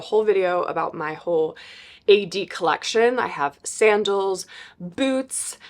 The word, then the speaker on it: Aeyde: how it's spelled because it sounds a little different than it's spelled so yeah this is the brand AE yde e but you say A D like architectural digest and I have just